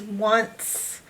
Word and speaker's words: once: But it doesn't start with a W, just like the number one doesn't start with a W. Once starts with an O, not a W.